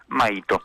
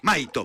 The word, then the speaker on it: Maito: Maito, Maito. Perfecto. Sin el tilde, digamos, en la I.